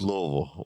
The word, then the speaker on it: Louisville: Yeah, as long as you're not saying Louisville or Louisville or Louisville, it's like Yeah, you can't say none of that. It's Louisville. it's like New Orleans. Like Louisville? Louisville. Louisville. Sounds like Louisville. As lazy and as quick as possible.